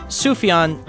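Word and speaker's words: Sufjan: Sufan Stevens, it's pronounced Sufian just so you don't embarrass yourself in a record store.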